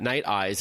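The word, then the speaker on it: Nite Ize: about night eyes and i just want to clarify to our audience that night eyes is spelled n-i-t-e-i-z-e tell us about the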